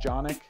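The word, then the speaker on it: Janak: If you guys don't know, my actual name is Jonic, J-A-N-A-K. It rhymes with Sonic. And it's a hard J, it's not a soft J, if you're wondering.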